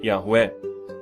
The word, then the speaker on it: Yahweh: apontar que o nome se pronuncia de forma foneticamente aportuguesada como Yahweh, sendo o som do RR bem suave, como seria o som do H no inglês.